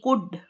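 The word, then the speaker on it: could: ओ यू एल डी कुड हो सकता है ये भी भूतकाल की बात है कुड एल इसमें साइलेंट होता है ये ध्यान रखिएगा कुड नहीं पढ़ेंगे से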